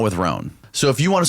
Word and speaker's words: Rhone: And on top of that, all my other clothes are always wrinkled, not with Roan.